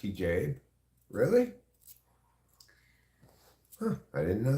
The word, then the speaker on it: hijab: It's actually pronounced hijab.